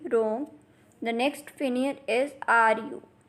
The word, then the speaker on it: rong: The next Pinyin is RONG, has a pronunciation of wrong. Repeat after me, wrong.